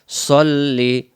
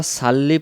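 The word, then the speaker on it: صَلِّ: দরুদ শরীফের শুরুতে আল্লাহুম্মা সাল্লি সাল্লি এটাকে যদি আমরা সাল্লি পড়ি তখন সাল্লি পড়লে এটাকে সদ অক্ষরের জায়গায় সিন অক্ষর উচ্চারণ হয় কারণ আরবিতে সিন জবর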